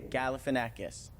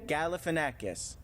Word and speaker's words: Galifianakis: ago um zach ganavaca how do you say his name galifianakis say it again galifianakis galifianakis zach galifianakis was my waiter